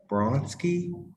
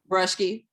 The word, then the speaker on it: Brushki: so please help me, but Dr. Bronski? Brushki. Brushki. Okay. Everyone pronounces it Bruski, so that's refreshing to have it pronounced another way.